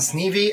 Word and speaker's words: Sneve: So Sneve and Devin Lose.